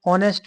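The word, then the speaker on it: honest: आ रहा है वो एच साइलेंट है ठीक एच साइलेंट और साउंड आ रहा है ओ से ठीक ऑनेस्ट साउंड क्या रहेगा ऑनेस्ट ऑनेस्ट your are ऑनेस्ट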